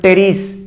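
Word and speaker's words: Pteris: কারণ ইংলিশ অনেক ওয়ার্ড আছে প্রথম অক্ষরটা উচ্চারণ করা হয় না, যেমন টেরিস পি উচ্চারণ করা হয় না, ঠিক আছে।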